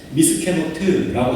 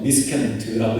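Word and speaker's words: מִסְכְּנוֹת: 한 가지 여기서 조금 살펴볼게요.이 국성을 히브리어로 발음하면은 미스케노트라고 합니다. 다시 한번 들어 주세요. 미스케노트라고 해요.이 국보섬을요.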